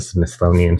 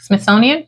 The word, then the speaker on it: Smithsonian: the Smithsonian almost maybe they did use the smithonian for this I can't pronounce that Smithsonian thank you and um I don't know it's